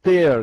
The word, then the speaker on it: tear: Посмотрите, есть tear глагол, вот он читается так же, как bear, wear, swear.